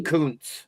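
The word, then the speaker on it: Kuntz: And if you say it the way it's spelled, it's not good to say on the air. But anyway, is it like a Roy Wah thing? Yeah, it's K U N TZ.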